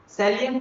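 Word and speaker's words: salient: सैलिएंट पढ़ना, साइलेंट नहीं पढ़ना।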